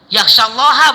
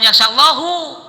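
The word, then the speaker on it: يخشى الله: Innama yakhshallaha min ibadihil ulama yakhshallaha bukan yakhshallahu. Masa Allah takut sama ulama?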